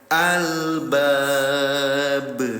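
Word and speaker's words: الألباب: Ketika kelima huruf ini disukunkan atau bersukun atau sukun keadaannya, maka dibacanya dengan cara dipantulkan. Tuh, ini contoh yang tadi, Ayah Bunda, ya. Fil haj. Nah, ini yang ini, Bunda, yang huruf ba. Albab. Pantulkan cara bacanya.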